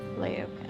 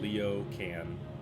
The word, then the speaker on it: Laokin: Laokin. So like Leo Can. That's how it's spelled.